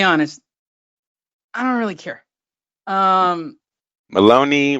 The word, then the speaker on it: Maloney: Maloney rhymes with baloney.